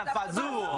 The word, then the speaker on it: fazool: We are making pasta fazool. Fazool. And you got to say it like you're from New York, because I know you grew up in Manhattan.